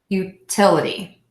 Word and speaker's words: utility: have four syllables and we know the rule is you stress the syllable B for the a D which is the ity so syllable two will be stressed bill a d complex